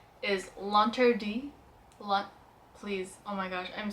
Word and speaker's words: L'Interdit: See, I took French in high school, and the way I think the French would say it is L'Interdit by Givenchy.